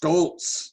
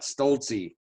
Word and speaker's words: Stoltz: to mispronounce names sometimes last name is pronounced Stoltz not Stolte so yeah I'm an